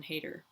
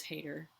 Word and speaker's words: Heder: breakdown with writer-director Sian Heder, and it is Heder. I said Heder earlier in this video because I didn't know the pronunciation and I didn't look it up before, and I apologize.